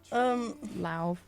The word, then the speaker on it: Lauv: Lauv. Lauv, like loud with a V at the end.